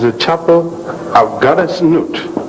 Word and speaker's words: Nut: And as a matter of fact, it's a chapel of Goddess Nut. How do you spell that? N-U-T. Pronounced Nut.